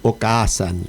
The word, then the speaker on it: Okaasan: platea net y busquen Okaasan, eh, o k a s a n. La doble a es para pronunciarla nada más para fingir que uno sabe algo de japonés y es con K o Ken con K.